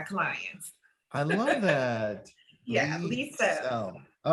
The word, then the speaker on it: Leisel: Ooh, but the correct way, it's okay, but the correct way to say my name is Liesel. And I always tell people like Lee, that's beautiful.